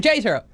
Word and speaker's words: Tatro: Tatro.